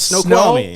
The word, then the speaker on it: Snoqualmie: It's Snoqualmie. Snoqualmie National Forest. It's spelled Snoqualmie.